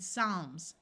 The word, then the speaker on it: Psalms: root calmly balm and Psalms notice the p is silent two words follow this